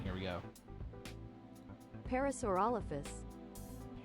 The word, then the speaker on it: Parasaurolophus: Pronunciation, here we go. Parasaurolophus. Parasaurolophus.